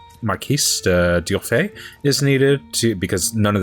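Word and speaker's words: Marquis d'Urfé: I know, it's pronounced Marquis de Durfay is needed because none of the family can kill their grandfather.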